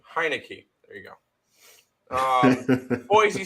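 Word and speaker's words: Heinicke: as a fave fade the Deadskins that's fair hi no key that's how you pronounce his name heinecke there you go um Boise State plus two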